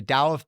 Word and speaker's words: Tao: of piglet so uh Tao pronounced Dao it's like the TOA of chundo it's like okay you sound like a Westerner but uh I forget